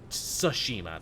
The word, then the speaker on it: Tsushima: The T is silent. Ghost of Tsushima.